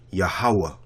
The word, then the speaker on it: Yahweh: So you got Ya, Ha, Wa.